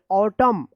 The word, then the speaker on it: autumn: जैसे ऑटम, तो AUTUMN ऑटम, ऑटम इसको आपको याद रखना होगा ऑटम, क्या है ऑटम।